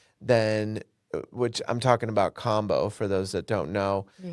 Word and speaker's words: kambo: And if I can do that and work with this warrior medicine, then, which I'm talking about combo for those that don't know, it's spelled KAMBO, where they burn with a small